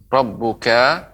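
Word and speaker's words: رَبُّكَ: Ibu, tadi Rabbuka pengucapannya masih panjang. Seharusnya dipendekkan ya. Alam tara kaifa fa'ala rabbuka rabbuka bi ya. Tidak dipanjangkan.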